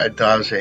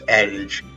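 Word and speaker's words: adage: It's not ad. It's addage. That's how I pronounce it.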